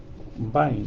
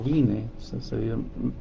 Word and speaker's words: Vine: Ahora, la palabra parousia significa, en el diccionario, esto lo saqué del diccionario Vine o Vine, se escribe B corta o V I N E, el diccionario de Vine, ¿ya?